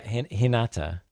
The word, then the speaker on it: Hinata: Hana or something? Oh, yeah. Hinata. Hinata. Oh, okay. Yeah. I left a syllable off.